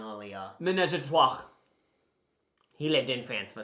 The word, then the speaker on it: ménage à trois: You can pronounce it right now, so then I pronounced it wrong earlier. Ménage à trois.